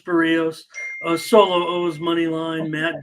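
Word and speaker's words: Berríos: Berrios. I should try to say it right. I have just always said Berrios, and I know it's Berrios.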